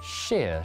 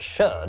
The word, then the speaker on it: shire: it's pronounced sheer not shire actually okay mister i know that cheer plebs over the centuries these areas wait what actually it's pronounced sher not sheer plebs over the now